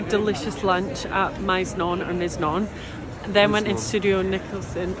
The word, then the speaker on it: Miznon: lunch at mnon or misnan then went in studio Nicholson how do you know it's pronounced like that Mi Z would be Miz Miz non and now we are